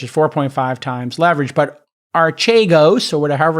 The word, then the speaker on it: Archegos: His firm, Archegos, I think it's how it's pronounced. Archegos.